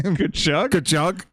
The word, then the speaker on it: Tkachuk: Tkachuk.